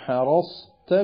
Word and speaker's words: حرصت: അതേപോലെ തന്നെ ലൗ ഹറസ്തും ولو حرصتم حصيرت صدورهم حصيرت صدورهم ഇങ്ങനെ തായിന് അടുത്ത് വന്നാലും പ്രത്യേകം فلا بد من بيان لفظ الصاد وتصفية النطق بها والا بادر اللسان الى جعلها سينا فحرصت എന്ന് പറയാൻ നമുക്കൊരു പ്രയാസമല്ല